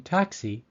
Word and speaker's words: taxi: long ey sound cry number three the i in taxi takes a long e sound the symbol I am